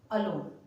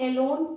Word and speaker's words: alone: यहाँ पर ए है, इस ए को हम अ से साउंड करेंगे, अलोन अग्री। इसको एलोन एग्री नहीं पढ़ेंगे, इसको अलोन और एग्री बोलेंगे।